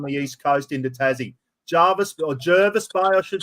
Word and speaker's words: Jervis Bay: Jervis Bay, I should say. Now, here we go. I've always known it as Jervis Bay, but apparently the locals call it Jervis Bay.